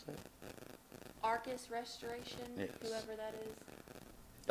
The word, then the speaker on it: Arcus: How do you pronounce that? Arcus Restoration, Yes.